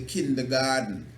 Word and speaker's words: kindergarten: The kindergarten. It's spelled Garten, but it's pronounced garden.